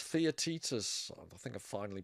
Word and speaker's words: Theaetetus: Yeah, it's Theaetetus. I think I finally pronounced it right. Theaetetus is the Plato dialogue where he mentions the wax tablet.